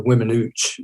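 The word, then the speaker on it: Weminuche: close to me, it's the locals pronounce it the Wiminuche. It's the Waimanuche wilderness.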